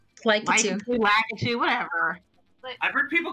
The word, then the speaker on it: Lakitu: Hey, do I not have to pay for Lakitu if I play as Lakitu?